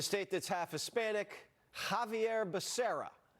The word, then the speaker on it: Becerra: In a state that's half Hispanic, Javier Becerra. Hearing the pronunciation there, really. It's Becerra. Really leaned in.